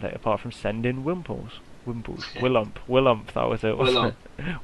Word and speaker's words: Willump: If you can't remember, just remember Willy Pump, and then just take out that middle syllable. Wait, Willump. Willump. No, Willump. Yeah, but there's like 2 syllables you're taking out. Willy Pump. Then just take out the P, alright? Yeah, we can't call him Williamp. Without the P.